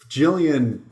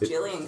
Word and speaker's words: Gillian: Gillian is pronounced with a J, right? Kind of sounds like a J.